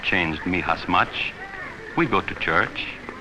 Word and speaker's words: Mijas: It is pronounced Mijas.